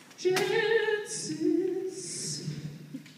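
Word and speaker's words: Janzis: Jan-zis, come on over. And, how's that? I need that other name person. How do you say it? Trangty. Trangty Jan-zis. Come. Jan-zis. Jan-zis. Rhymes with Kansas.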